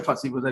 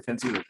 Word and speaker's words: Fancy Bazaar: Somebody pronounced it as a fussy bazaar. It's not a fussy bazaar, it's a fancy bazaar.